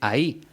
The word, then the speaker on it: ahí: Son 3 formas muy parecidas a la hora de pronunciar. La única diferencia es que la primera lleva tilde en la I y se dice ahí. Las 2 siguientes se pronuncian ay, pero se escriben de forma totalmente distinta.